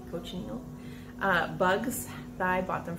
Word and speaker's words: cochineal: the boys helping me coach neil that's how you say it coach neil uh bugs i bought